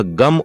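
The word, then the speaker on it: गं: होता है इसी प्रकार ग के ऊपर जो बिंदी लगी होती है वह गम उच्चारण होता है यह भगवान श्री गणेश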